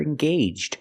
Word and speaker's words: engaged: And I can describe to people, if they're going to get married, they're engaged. They're engaged to be married. The AGE makes a long A sound.